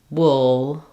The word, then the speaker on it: wool: it into this word so for example pull wool wolf so including wool here uh I've written Rewritten Wool with the same spelling even though it has letters o o it also has the uh sound so pull with u